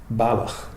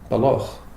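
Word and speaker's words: Balloch: Down near Glasgow, down near Loch Lomond, that's pronounced Balach. Yeah. Up here, just outside Inverness, it's pronounced Baloch. They're spelt identically the same.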